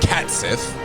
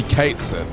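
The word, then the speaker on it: Cait Sith: it wrong for years it's not cat Sith so some people say cat Sith cuz he's a cat and then people like it's actually Kate and then other [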